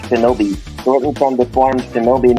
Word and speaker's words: Shinobi: Ode to the Ancient Ninja, which is the Onyomi, not to be confused with Tsunami in the native Kunyomi, but is pronounced Shinobi, shortened from the form Shinobi no Mono.